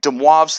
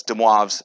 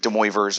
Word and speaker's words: de Moivre: six six is titled de moivre's theorem and nth roots that's de moivre's it's french um that's how you say it's not de moivre's or anything like that de moivre okay we start we start